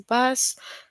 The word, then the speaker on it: bass: So in the sentence bass rhyme with case right.